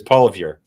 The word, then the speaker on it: Poilievre: But Poilievre? Yes, very well done. Yes. Anglicized. Yeah, anglicized. It's Poilievre.